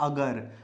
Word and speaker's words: अगर: अघर, अघर। तो अघर एक गलत शब्द है, सही शब्द क्या होता है? अगर।